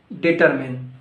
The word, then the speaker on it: determine: No, it's not determine, it's determine. Determine. Repeat after me. Determine. Now this one.